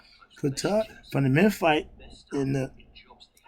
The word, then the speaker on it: Ptah: I want to be like Ptah. Ptah, from the Memphite in the theology concept, Ptah uttered his own name. We put the P on it, the P is silent, but is his original name.